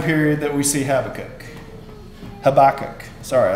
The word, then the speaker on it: Habakkuk: Habakkuk. Sorry, I looked that up how to pronounce it. It's Habakkuk. I said Habakkuk my whole life.